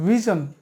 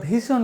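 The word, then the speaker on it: vision: Next হচ্ছে ভি আই ভি আই এস আই ওন ভিজন। যেটা আমরা ভিশন বলি। ভিন ভিন না এটা হবে ভিজন।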